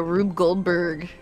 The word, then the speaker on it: Rube Goldberg: This is cool because it's like a Rube Goldberg.